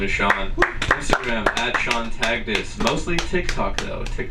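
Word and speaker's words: Taghdis: is Sean Instagram Sean tagus mostly Tik Tok though Tik Tok Sean tagus as well spell that name please t a g silent h d i s and Sean is sea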